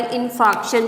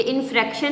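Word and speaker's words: infarction: Heart attack को हम myocardial इन्फार्क्शन भी कहते हैं। क्या कहते हैं? Myocardial इन्फार्क्शन। ये इन्फ्रैक्शन नहीं है, इन्फार्क्शन है।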